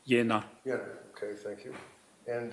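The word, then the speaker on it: Jena: Kapka who was the managing director of Aera Medicals A V A T E R A medical in Jenna J E N A Germany. Yeah, it's pronounced Yenna.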